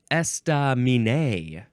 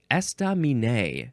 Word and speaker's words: estaminet: being H next is esta Min esta Min now is that esta it looks like those first three syllables none of them get emphasized more than the others estam it is spelled